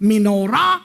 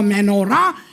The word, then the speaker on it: menorah: It doesn't matter how you pronounce it, menorah or menorah.